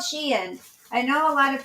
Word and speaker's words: Shein: So a couple of my items came in from Shein, you guys, and it's called Shein. I know a lot of people pronounce it Shine or Sheen, but it's called Shein.